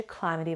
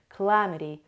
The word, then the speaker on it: calamity: همه این اتفاقا، هر چیزی که بد باشه، میتونیم از واژه calamity براش استفاده کنیم. و pronunciation شو دقت کنیم. Calamity. Calamity. Stress is on the second syllable.